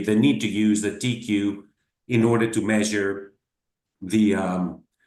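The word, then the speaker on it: TEIQue: The TQ, you will see here, we pronounce it TQ, just the T and the Q, the consonants.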